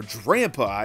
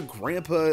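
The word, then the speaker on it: Drampa: on work roppa or DRAM pie it's like the grandpa a dragon so I think grandpa is the definitely the right way to pronounce it has a base 150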